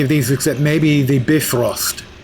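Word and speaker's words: Bifröst: I wasn't nuts about any of these except maybe the Bifrost. I understand while we pronounce it Bifrost, I think the actual Scandinavians pronounce it Bifrost.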